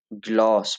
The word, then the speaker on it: glass: को ऑ पढ़ा जाता है तो इसलिए उसको ग्लॉस पढ़ा जा रहा है, लेकिन 2 एस हैं यहाँ पे तो ग्लास।